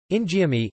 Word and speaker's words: Injeolmi: Injeolmi, Injeolmi pronounced in DL mi, is a variety of